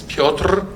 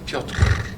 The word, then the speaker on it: Piotr: My name is Piotr. Some people ask me how to pronounce it, Piotr.